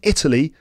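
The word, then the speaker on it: Eataly: And in Paris, there is a place called Italy. It's spelled E-A-T-A-L-Y. Right? Not Italy. Italy.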